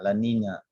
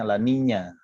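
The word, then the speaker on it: La Niña: berbahasa Spanyol disana maka disebut Lanina laninya dan minyak kalau itunya Elnino pun dibacanya Elnino kayak dingo gitu di kayak jadi NY di belakangnya Lola Nina dibacanya bagi mereka menyebutnya laninya eh anak perempuan lahir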